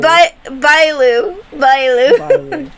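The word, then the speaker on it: Bailu: is balls B it's actually pronounced B Bao bao that is her actual name also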